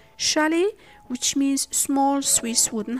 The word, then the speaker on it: chalet: Finally, T is silent in French loan words such as chalet, which means small Swiss